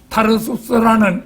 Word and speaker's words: 타르수스: 다시 말해서 소경 바르티메우스가 구원받는 것이 타르수스라는 이 지명은 이제 타소의 사울이라 사도행전에 보면 타소의 사울이라 이래 나오는데 타소의 그 표준적인 발음이 타르수스입니다. 타르수스.